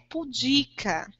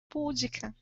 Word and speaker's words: pudica: apenas apresentando uma característica a palavra é pudica mas nós queremos pronunciar pública porque o som é mais agradável e dá um problema da proparoxítona não é a sua